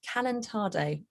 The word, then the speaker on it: calentado: So we've got the dish pronounced from Colombia. It's called calentado.